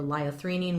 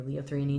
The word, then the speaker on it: liothyronine: The lowest dosage of Cytomel, which is the brand name of T3, or liothyronine, which is or leothreonine, depending on who you ask in terms of pronunciation.